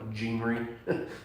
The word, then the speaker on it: genre: However, when you understand some things about like scripture has different genres, it's spelled like genre, pronounced genre.